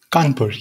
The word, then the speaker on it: Kanpur: India Institute of Technology in, how is it pronounced, Kanpur? Kanpur, yes.